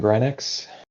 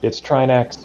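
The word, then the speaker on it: Trinexx: very clean Grenix.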